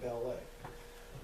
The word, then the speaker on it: ballet: right it's just like in France you don't pronounce the T at the end of ballet okay so here got